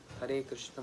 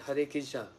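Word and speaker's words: Hare Krishna: Krishna har har Krishna not har Kisha because many devotees they just ch that's not proper pronunciation or they chant Hur cash hurry cash cash cash hurry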